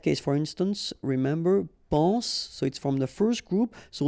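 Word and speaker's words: sois: So être will become soit. Remember, final S is not pronounced.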